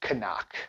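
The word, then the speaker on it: CNOC: go to their website, they do say it's pronounced Canuck.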